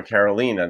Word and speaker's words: Carolina: I happen to know a Carolina. That's how she pronounces it.